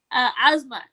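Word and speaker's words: Azamat: His name is funny because it's Asmat. It rhymes with Kazmat.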